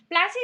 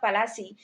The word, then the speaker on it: Palasi: Plassey is an anglicized pronunciation of Palasi, and the place derived